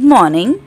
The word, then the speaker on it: morning: Informal are good morning, good afternoon, good evening, good night. So here is MOR. See, when we are saying good morning, we do not pronounce this R.